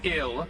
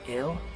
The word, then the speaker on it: IL: And right now, this ill that was stolen from us is located somewhere in the Limitless Fortress. You're calling it ill? Pronounced exactly the same as the English word ill, meaning sick or die?